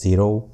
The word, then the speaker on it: Xero: want to recommend is the xero i suppose it is to be pronounced as zero you can buy this